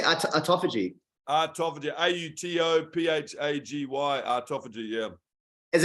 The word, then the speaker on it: autophagy: say that I've got quite a bit of autophagy skincare left over. But it smells so good, man. It's the pomegranate stuff. Yeah, it's good. What do you call it? You say autophagy.